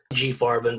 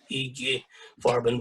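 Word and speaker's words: IG Farben: eg farben for example g farben but in german you would pronounce it eg farben but yeah um also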